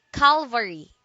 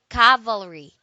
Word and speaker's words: cavalry: word is cavalry cavalry don't say Calvary do say cavalry it is a noun